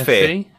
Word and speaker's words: Fe: Moving on then, open world platformer Faye, I guess, or Fee? I'm not sure how you pronounce it. Fee, I would have thought it would be called. It's Faye. Oh, it's Faye. Okay. It's Faye, yeah. Yeah, it's Faye.